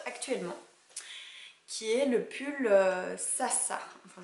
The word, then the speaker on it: Zsa: qui est le pull Sasa. Enfin je crois que ça se prononce comme ça s'écrit Z-S-A.